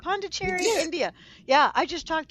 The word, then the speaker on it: Pondicherry: Pandicherry. That's it. Did I say it right? Pondicherry, India.